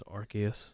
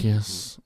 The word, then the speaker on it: Arceus: pronunciation is Arceus. Is it really? Arceus. It's like Noah's Ark also, so it doesn't sound like British ass.